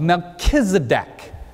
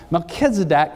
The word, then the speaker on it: Melchizedek: in the order of melchizedek now anybody in here your first name is melchizedek milk literally means king you can pronounce it skedak or kedak don't you like that one means righteousness so king of righteousness